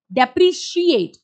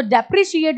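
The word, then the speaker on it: depreciate: डेप्रिशिएट, केट नहीं, शिएट. सो डेप्रिशिएट is going to go lower.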